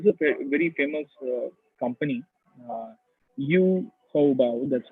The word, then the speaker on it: Taobao: Taobao, that's how you pronounce it.